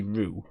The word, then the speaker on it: Ryu: Ryu, as in Rio, not Ryu. I say Ryu. Get out. See, like apparently Japanese people say it like Ru. Apparently Japanese people say Ru.